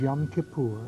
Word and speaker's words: Yom Kippur: Year and that was last week today is Yom Kippur right is that the way pronunciation yes right and what is Yom Kippur it means the Day of Atonement when we